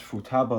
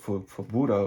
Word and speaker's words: Futaba: Hope I pronounce Futaba a little better than I used to. I used to call it Fubuda or something like that.